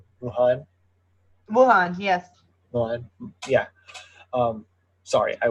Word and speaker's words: Wuhan: It started in Wuhan, right? Am I saying it right? Wuhan, yes. Wuhan, yeah. Sorry, I will butcher the names.